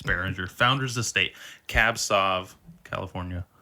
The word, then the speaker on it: Beringer: How do you pronounce that? Beringer. Yeah, that's good enough. Beringer. Yep. It's Beringer.